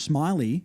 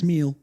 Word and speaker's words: Smeal: I found out Josh Smiley, we're saying his last name wrong. A client of mine says his son goes to school with him and it's Smeal. Smeal.